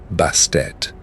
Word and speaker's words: Bastet: And it is thought they did so to press upon the final sound, to insist that the silent T at the end of her name be heard and honored rather than swallowed.